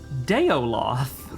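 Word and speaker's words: Daoloth: believer, and spreader of the word of Dowloth. Chaosium thinks that's pronounced Deoloth.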